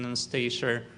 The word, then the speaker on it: Anastasia: In Russian, it is pronounced with the stress on iya. Anastasia.